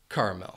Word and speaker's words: caramel: 3 ways to say caramel. First, you should know that the word has 3 syllables and the stress is on that first syllable. That second syllable is going to have a schwa sound, and that final syllable